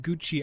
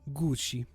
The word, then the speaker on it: Gucci: And I hope you realize that I will not in any way be saying Gucci. I will be saying Gucci.